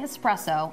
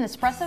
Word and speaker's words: espresso: be pegged as an espresso newbie or Draw the ire of a barista remember there is no X in espresso but you know we're